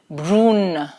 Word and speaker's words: brune: Un is as we did in the articles unde, the pronunciation is so it is brun, and in feminine it is brune, brune.